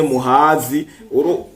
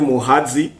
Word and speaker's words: Muhazi: uruzi gwitwa Muhazi canke Muhazi urumva prononciation ni y'abanyarwanda si y'abarundi murani bari Muhazi sinzi ngiramaze kuvuga bine